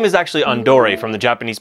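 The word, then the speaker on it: Andore: Jr not quite right his name is actually Andor from the Japanese pronunciation of the word Andre as an Andre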